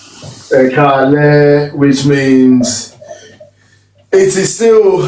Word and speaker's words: Ẹ káalẹ́: Ẹ káalẹ́. Ẹ káalẹ́, which means it is still, how can I put this?